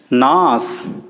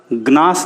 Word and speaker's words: gnash: GNASH नास, ग्नास नुए सीटा।